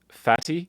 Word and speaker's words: Fatty: And he was like, oh, my name is Fatty. And I was like, Fatty? And he was like, yeah, that's how it's said.